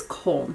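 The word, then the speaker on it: Köln: So it's spelled like cologne, but it's Koln, K-O-L-N.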